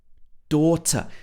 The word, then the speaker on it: daughter: said the word daughter daughter so here she's pronounced the t in full if this was an american pronunciation it would be daughter daughter at the end